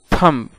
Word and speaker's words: thumb: THUMB, थंब। थंब का माना होता है अंगूठा। दोस्तों, यहाँ पर दोनों लफ्ज़ के अंदर बी साइलेंट है, बी की कोई आवाज़ नहीं है।